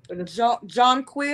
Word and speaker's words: Jonquil: How do you pronounce this? Jonquil. Oh, Jonquil.